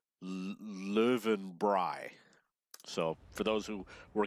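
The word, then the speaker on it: Löwenbräu: I know I asked her how to pronounce Lowenbrau and she said in German or in Bavarian it's pronounced live and bry so for those who were curious about that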